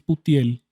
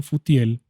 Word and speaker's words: Putiel: no suene raro porque realmente es putiel así se escribe en hebreo y se produce así Pero pues en la Reina Valera los que ven como futiel es desdén de Dios